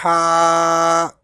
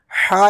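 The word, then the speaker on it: ح: Ha. Ha is pronounced from the middle part of the throat.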